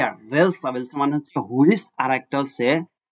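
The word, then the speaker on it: welcher: ভান মানে হচ্ছে হোয়েন আরেকটা হচ্ছে এটা হচ্ছে ভেলসা ডব্লিউ ই এল সি এইচ ই আর ভেলসা মানে হচ্ছে হুইচ আরেকটা হচ্ছে বিফিল এটা হচ্ছে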